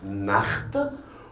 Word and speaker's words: Nacht: Donc, A avant CH, ça devient H, Nacht. O avant le CH, c'est un Woche. Le O avant le CH, c'est un Buch.